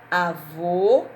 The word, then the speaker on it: avô: Avô, o som é mais fechado.